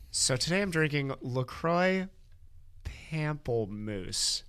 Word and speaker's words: pamplemousse: So today I'm drinking LaCroix Pamplemousse. How in God's name do you pronounce that?